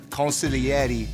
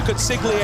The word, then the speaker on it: consigliere: Ladies and gentlemen of the jury, my name is Luca Crucifino, consigliere to Tony D'Angelo and the D'Angelo family in NXT.